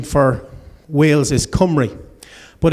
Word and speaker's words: Cymru: there is a team Comrie this is correctly pronounced Comrie most people don't know that this is actually